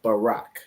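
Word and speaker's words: בָּרַךְ: b r and but that's not how you pronounce this word so if you remember from the Paleo this word is Barack so in the Paleo these two would be joined together right so this is Barack so that's why like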